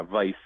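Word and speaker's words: Weiss: ISS but like yeah vice is properly Jeremy actually so yeah so it's it's a it's actually based on a Hungarian spelling okay which is when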